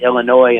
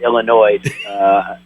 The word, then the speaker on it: Illinois: I finally gotten to a place where I pronounce it Illinois instead of Illinois.